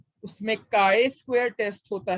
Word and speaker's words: chi: Test होता है, उसमें काय स्क्वायर टेस्ट होता है, काय CHI, चाय नहीं पढ़ना, इसको काय पढ़ना, ठीक है।